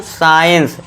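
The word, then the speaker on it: science: और एस के बाद सी हो तो सी साइलेंट होगा।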